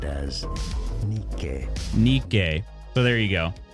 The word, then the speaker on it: Nike: Don't the commercials for Nike say Nike? They do, yeah. Yeah. Well, Nike, I mean, that is that it's founded, or its roots are from Greek, right? The Greek pronunciation is Nike.